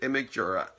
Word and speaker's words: Imgur: site I had never heard of before called Imgur, or as some people pronounce it, Imgura.